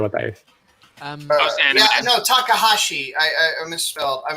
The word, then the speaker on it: Takahashi: look how look what was her name rumo takamashi did I say that correctly uh the author of ramna and Yasha I have no idea what that is um no Takahashi I I I miss I mispronounced you're talking